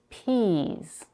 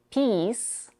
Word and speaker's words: peas: might misunderstand the word we follow the P with a tense e sound and end the word with the voice consonant Z even though it's spelled with an S if we say peace that's a different word and the whole phrase